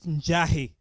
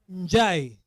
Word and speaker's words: Njai: My name is Njai, as you've heard. Not Njahi. Unasikia wewe? Njai.